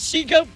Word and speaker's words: Shego: Sou claims victory and she go pronounce a pronunciation feud with Amaly.